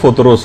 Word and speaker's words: فطرس: کہ ایک فرشتہ تھا فطرس کا، فطرس۔ اچھا، اس کو الگ الگ طریقوں سے لوگ پکارتے ہیں، لیکن اصل میں اس کا جو تلفظ ہے وہ فطرس ہے۔ اچھا، اس فرشتے کا